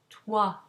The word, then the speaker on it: toi: OI is pronounced wa, as in toi.